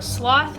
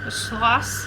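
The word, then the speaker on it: Sloss: started construction on the sloth furnaces a year later swass it's it's spelt like s loss not like sloth as in like the little thing that's in South America not the little thing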